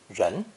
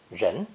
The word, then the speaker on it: 人: people, human, or humans, pronounced with a second rising tone, ren, ren. This is the retroflex R sound, which is similar to the G sound as in the word prestige, with the tip of the tongue curved backwards.